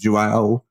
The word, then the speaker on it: Aoife: It's Jao.